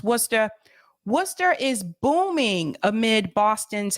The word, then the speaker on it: Worcester: from the area it's spelled Worcester but it's pronounced Worcester Worcester is booming amid Boston's housing affordability crisis